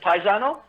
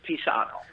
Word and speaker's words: Pisano: no it's pretty good but most people pronounce it paisano pizzano is that how you're pronouncing it yeah like a kind of like friend in italian okay but uh technically if you're in italy it's pisano peace so you can pronounce